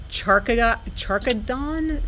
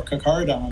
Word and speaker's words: Carcharodon: Isn't a megalodon's real name, and I may be mispronouncing this, but I would say Charkadon? C-H-A-R-C-H-A-D-O-N? Say it again correctly. Sure, Carcharodon. Carcharodon.